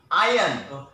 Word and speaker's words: iron: is the correct pronunciation I am the correct pronunciation is iron he needs to iron he crossed course next